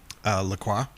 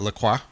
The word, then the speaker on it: LaCroix: but our new one of our drink sponsors, LaCroix. Is that how you say it? Yeah. Well, that's how they tell me to say it. Okay. Yeah. Yeah. They say like idiots say LaCroix. Yep. But LaCroix.